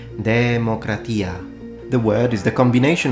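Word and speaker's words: δημοκρατία: word itself this word in modern Greek is pronounced democratia now in restored classical optic pronunciation which will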